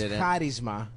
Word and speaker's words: charisma: yeah he just learned the right way to say it first of all it's karisma yeah okay it's a